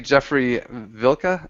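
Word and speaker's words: Jeffrey Wilcke: And actually, Jeffrey Vilka, I think his name is German, so I think that's how you say it.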